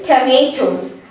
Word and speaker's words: tomatoes: Near T-O, don't say it as to. Say it as th. T-U-H. Th. And M-A, don't say ma, say may. M-E-I, may.